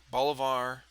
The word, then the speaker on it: Bolivar: Bolivar. I don't know how you say it. yeah. Missouri. Bolivar.